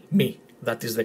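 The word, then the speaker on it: μι: And at the end, we're gonna have a test, a few Greek words in which you're gonna try and pronounce them properly, with me explaining at the end how to properly pronounce them.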